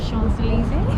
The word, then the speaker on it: Champs-Élysées: Champs-Élysées. Well done for pronouncing it correctly there.